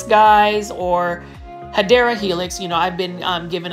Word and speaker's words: Hedera helix: And I wanted to show you this really nice looking Hydra Helix, guys, or Hedera Helix.